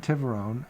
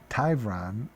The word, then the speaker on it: Tyron: Attorney Tiveron of. Okay, I'm sorry, I mispronounced your name. Attorney Tyron of Tyron Law PLLC who represents mayor declined to comment.